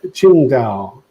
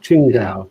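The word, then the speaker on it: Qingdao: like so welcome and kim is saying it's pronounced uh ching dao there you go ching dao thank you very much and roland from the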